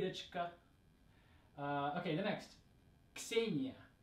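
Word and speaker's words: Ksenia: the next say Nia now this one's hard for English speakers to say because we don't usually have the sound and together at the beginning of a word right like we have it at the end of words a box but we don't usually have it at the beginning of words so we're taking that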